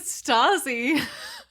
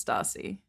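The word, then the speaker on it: Stassie: So in the audiobook, it's pronounced Stacy.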